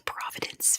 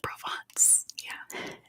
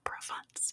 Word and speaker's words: Provence: ravinder and such um it's not called the Providence fear but I know what you're trying to